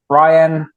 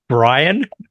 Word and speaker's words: Ryan: of times I go it's Ryan and they go Brian know Brian with an R like oh oh okay